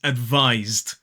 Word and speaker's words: advised: The correct answer is advised. Advised. Now, so sometimes that letter S can be pronounced as s, which is unvoiced. However, in this word, the S is pronounced z, z, which is voiced.